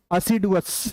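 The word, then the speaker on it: assiduous: भगवान से क्या बोलिए, इसको देखिए, इसका प्रोनाउंसिएशन जो होगा वो तो अ से होगा, असिडुअस, राइट। ये प्रोनाउंसिएशन होगा इसका।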